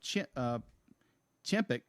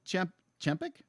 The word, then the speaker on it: Chapek: From Bob Iger to Bob Chapek. Chapek, I might be mispronouncing his name.